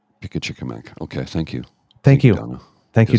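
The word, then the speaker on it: Pimicikamak: Oh, I'm getting a pronunciation check here. Pickachickamack. Pickachickamack.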